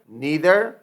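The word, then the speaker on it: neither: Each, ईदर, नीदर। अच्छा, कुछ लोग इसको आइदर भी पढ़ते हैं, नाइदर भी पढ़ते हैं, लेकिन ये दोनों प्रोनाउंसिएशन ठीक है।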